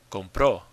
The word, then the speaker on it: compró: Compró. Compró. When you say he bought something, you say él compró something. Now, this is different from compro, which means I buy. Compró, the stress is on the end.